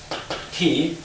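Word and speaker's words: 體: Ti means, it's pronounced Ti.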